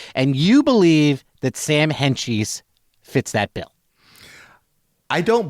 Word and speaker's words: Hentges: I know that his name is pronounced Hentges. Mm-hmm. Hentges.